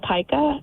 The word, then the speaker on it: pica: Have you've dealt with people who have the Pika? Yes, and it's actually pica.